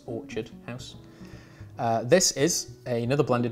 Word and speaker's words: Orchard House: the year you'll hear i'm going to pronounce orchard quite intensely because for weeks i've been calling it orchid house but it's orchard house uh this is another